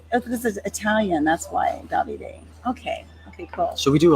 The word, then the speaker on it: Davide: Davide is 3 syllables. The accent, the hardest accent, is on the first syllable.